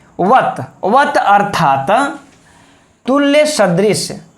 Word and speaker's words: सदृश: वत अर्थात तुल्य सदृश, सदृश कैसे बोलेंगे मित्र इसको, सदृश। किस लोग कह देंगे सदृश। तो स और श का मित्रों हम लोग उच्चारण ही ठीक से नहीं कर पाते हैं, उच्चारण पर भी हम लोगों को ध्यान देना होगा।